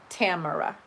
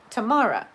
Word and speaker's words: Tamara: give you an example there's the name tamara some people say tamara some people say tamara most of the folks i have met who have that name go by tamra but i have met